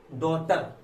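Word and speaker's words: daughter: उच्चारण नहीं होता है, जैसे कि डॉटर, DAU आया, डॉटर, इसमें जी का उच्चारण नहीं किया।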